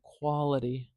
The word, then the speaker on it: quality: on with that t I'm not saying Quality quality with a very clear crisp t sound I'm saying Quality quality do you hear how that's kind of like a dull D sound it's almost like a d it's not truly a d and it's not truly